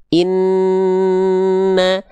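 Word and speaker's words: إِنَّ: Contoh inna. Jadi setelah n-nya nempel suaranya dia masuk ke hidung dulu dia inna baru keluar vokal A-nya atau vokal harakatnya.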